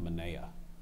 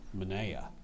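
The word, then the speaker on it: menaia: sentence the priest had an impressive collection of Mana can I have the part of speech please it's a plural noun are there any alternate pronunciations no can you please repeat the word one more time Mana thank you Mana m e n a i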